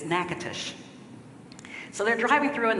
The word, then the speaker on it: Natchitoches: It looks like Natchitoches, and it's Natchitoches.